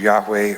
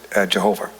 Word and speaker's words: Yahweh: h the abbreviation for the name of yahweh or if you mispronounce it jehovah okay well the thing is you know i was i wasn't really being facetious uh jehovah which we're all used to consists of the vowels of one word adonai put underneath as they put vowels in hebrew the consonants of another word it was it was itself a way of making it unpronounceable but that was uh